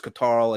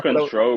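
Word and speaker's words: CTRL: Damage Control, bro. Come on now. Katarl. It's spelled Katarl. All right. So look at your goddamn look at your keyboard, and you'll tell how to say it right there, mate.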